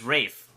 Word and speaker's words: Ralph: boy Paddington Bear um I'm looking up how to say Ralph it is Rafe what it's suck it